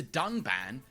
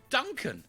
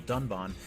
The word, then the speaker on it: Dunban: strongly disagree with and then calls the character dunban Duncan this time however they did edit out the